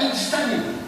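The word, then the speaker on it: اجتنبوا: Ijtanibu, kalau kita berhenti bacanya ijtanibu.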